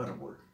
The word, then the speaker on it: árbol: Por ejemplo, yo digo árbol, árbol, es grave o llana, está acentuada en la penúltima sílaba y termina en consonante,